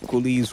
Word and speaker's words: Cullies: CULLIES rhyming with bullies, and they making a statement which goes with that infamous song with popularly known.